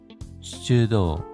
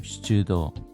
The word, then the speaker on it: 出動: QQ샤 연다이 4대 시즈도 출동입니다. 발음에 주의해 주십시오. 시즈도 쇼가 소화인데 화재 진압이라고 해석하시면 좋을 것 같습니다.